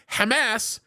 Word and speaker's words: Hamas: but that's the variance so when you hear me say Hamas it has nothing to do with the term ass I just want everybody to understand that the pronunciation the pronunciation is the way it is because that's how we speak in the Arabic language by the way that's